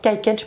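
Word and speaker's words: Kaïken: ci il sort qu'à ekeng ekeng pas ça se prononce comme ça c'est le c'est un nom japonais ça désigne un poignard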